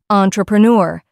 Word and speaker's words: entrepreneur: Smile, correct yourself, entrepreneur, stress the third syllable, and finish.